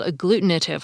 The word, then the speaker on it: agglutinative: For example, these are what are called agglutinative languages, which sounds like the word glue because the words share the same Latin origin.